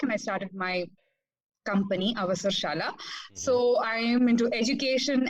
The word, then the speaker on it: Avasarshala: Avasarshala. Yes. Avasarshala. Give a pause after Avasar. After Ava.